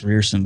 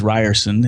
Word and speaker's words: Rierson: I ers and when it looks like it's pronounced fearsome but it is Ryerson and you can go to dose of leadership